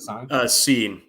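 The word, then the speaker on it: Cine: Sine?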